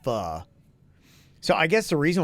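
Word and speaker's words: phở: E yeah it's a faux restaurant but it's pronounced fuh so I guess the reason why they're probably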